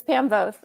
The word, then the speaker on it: Voth: Yeah, it rhymes with growth, not moth. So it's Pam Voth.